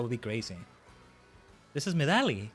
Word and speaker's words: Medali: This is Medali. Kind of sounds like medley, right? Oh, medley? Are you supposed to say it like that? Medali, I've been saying.